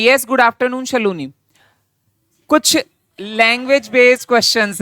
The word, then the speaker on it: Shaloni: हाँ, तो उसमें शलोनी लिखा है बेटा, दैट इज द प्रोनाउंसिएशन। यही है।